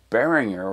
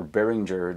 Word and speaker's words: Behringer: good friends at Beringer Beringer or Beringer depending how you want to pronounce it uh they've been super